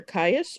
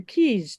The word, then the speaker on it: Caius: I'm going to be playing either Dr Caius or Dr Keys depending on how you prefer to pronounce it how